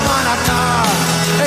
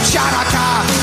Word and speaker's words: Hanukkah: Tell Darul Hanukkah, it's time to celebrate Hanukkah. It's not pronounced Chanukah. The C is silent.